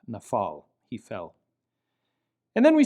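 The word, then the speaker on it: נפל: the same, but it lacks the dagesh and therefore has an F pronunciation, nafal.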